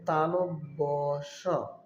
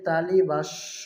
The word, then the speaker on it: তালব্য শ: বর্ণটির সঠিক উচ্চারণ হবে তালব্য শ। অনেকে তালিবাস্য বলে থাকে।